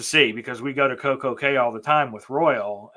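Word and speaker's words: CocoCay: Cay or Coco Key? It's Coco Cay because they sing the song Perfect Day at Coco Cay to that, 80s tune. It's gonna be perfect day, Coco Cay.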